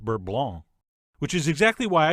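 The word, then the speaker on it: beurre blanc: by the way you keep hearing me say bert blanc but i believe in french it's correctly pronounced burb blanc which is exactly why i use the americanized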